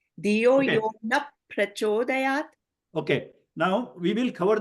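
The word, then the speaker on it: नः प्रचोदयात्: It will sound like okay, naf prachodayat, because visarga will change into a F sound.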